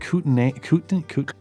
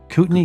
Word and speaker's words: Kootenai: Is it Kootenai? Kootenai County Sheriff's Department. Why is there an AI in there and it's pronounced E?